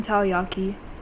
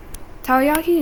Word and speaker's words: takoyaki: I could really go for some takoyaki. Takoyaki is so good.